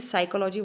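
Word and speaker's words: psychology: SY something like this, जो साइकोलॉजी की spelling है एस से शुरू करेगा, वो पी से इसको कभी नहीं शुरू करेगा, उसको नहीं पता कि पी वर्ड इसमें आता है।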